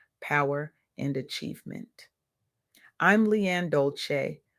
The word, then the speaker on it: Dolce: I'm Leanne Dolce, pronounced Doulce, and I recently had the privilege of sitting